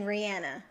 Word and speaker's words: Rihanna: look at you Betsy is it Rihanna or Rihanna when I'm certain say her name she says her name Rihanna okay good job her